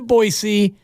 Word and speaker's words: Boise: you I've never been I've never been to boisey I might have been through it thank you for pronouncing it right though you and I we've